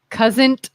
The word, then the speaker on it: cousin: Cousin. Like people think there's a T in the word but cousin.